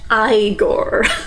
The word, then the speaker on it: Igor: He's like, no, it's pronounced Igor.